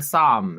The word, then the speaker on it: Somme: Such films as The Battle of the Somme, is how you say it, S-O-M-M-E, The Kaiser, The Beast of Berlin.